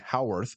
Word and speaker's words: Haworth: find him at IG howorth spelled ha a w t h looks like Hayworth but it's pronounced like how on Earth IG uh IG howorth